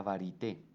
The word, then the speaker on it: varité: en francés es la varité, ¿no? Varité, pues con una pronunciación en español, pero el neologismo que podría traducirse al castellano es la variedad.